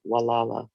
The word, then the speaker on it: Gualala: trail in downtown walala mendocino county california we pronounce it walala walalu shares the coastline with our neighbors on